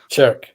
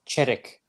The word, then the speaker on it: Cherik: I know that's wrong. Chirk. It's No, teacher. no. It's Cherik. Cherik. Yeah, Cherik. Good God.